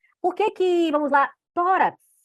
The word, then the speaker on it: tórax: Por que que, vamos lá, tórax é acentuado? Porque é uma paroxítona terminada em X, certo? Então você tem que identificar. Tórax, você já sabe que é a penúltima sílaba mais forte.